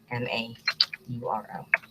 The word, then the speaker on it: DeMauro: DEMAURO. Rhymes with tomorrow.